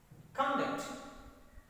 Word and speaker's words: conduct: utterance in my pronunciation conduct suspect subject object convey okay but the same yes stress is shifted to second syllable when the words are verbs the first stressed placement